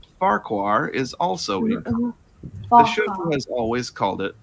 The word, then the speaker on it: Farquhar: However, the original pronunciation is Farker, sort of like Fokker, as said again in the book narrations.